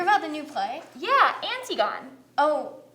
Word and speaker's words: Antigone: did you hear about the new play yeah antigone oh it's pronounced antigone oh well it's spelled antigone regardless the theater